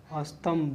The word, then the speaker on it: स्तंभ: इसको क्या बोलते हैं बच्चे, स्तंभ बोलते हैं, ठीक है, स्तंभ बोले, ठीक। स्तंभ है ये, यहाँ पर म का नहीं उच्चारण दिया है, स्तंभ लिखा, स्तंभ, ठीक है।